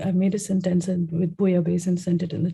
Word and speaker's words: bouillabaisse: In Latin, double L is year. So it's Bouillabaisse?